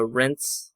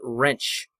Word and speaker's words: rinse: My grandma, she would say like I need to go rinse like r i s e, you know, rinse the dishes. But she would pronounce it wrench. Like a socket wrench. I'm going to go wrench the dishes.